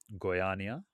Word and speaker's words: Goiânia: I'm imagining it's hard to get to because honestly, I had never heard of the city until how do you pronounce the city? Right? Goiânia.